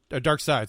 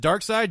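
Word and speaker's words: Darkseid: quinn they were like what is it is it dark side dark seed i don't know i mean it's pronounced i mean it's written seed i don't know why y'all say dark side anyway but is that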